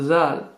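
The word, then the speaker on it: ذ: Ensuite, nous avons le zal. Prononcé tha, thi, thu. C'est le TH en anglais.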